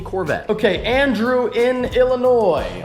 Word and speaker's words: Illinois: okay and drew in Illinois I always pronounce the S in Illinois I know that it's not really my fav anyway it seems